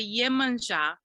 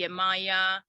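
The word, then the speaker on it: Yemanjá: differently or pronounced differently in Brazil we say yemenja um uh but it can also be Yemaya umoja so and her greeting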